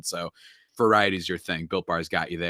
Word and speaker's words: Built Bar: And it rhymes with Filt Bar. Have you ever heard of the Built Bars, Rylan?